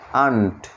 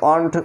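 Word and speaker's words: aunt: এখানে একটি ওয়ার্ড ব্যতিক্রম আছে, সেটি হলো এ ইউ এন টি আন্ট। এখানে কিন্তু অন্ট উচ্চারণ হয় না, আন্ট, যার অর্থ হলো পিসি বা মাসি।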